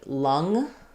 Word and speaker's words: lung: And for lung, we have the ng, but the schwa vowel.